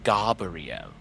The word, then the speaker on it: Gabrielle: Her name was spelled Gabrielle, but she insisted that we pronounce it Gabrielle.